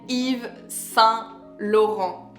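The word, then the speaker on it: Yves Saint Laurent: you have to pronounce it correctly we say Eve s laon Eve s Lon pronounce ifon and I love ifon perfume unfortunately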